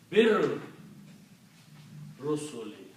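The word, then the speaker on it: بالرسل: And again you combine this B with the Lam, don't pronounce Alif, so become Bir Rusuli.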